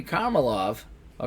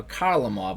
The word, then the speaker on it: Kharlamov: there and we got to hear the brand-new pronunciation that I just put into the game Valerie Carmel off a kharlamov I should say his second goal of the